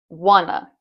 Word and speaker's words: wanna: Once again, the emphasis is on the first part of the word. Wanna, not wanna.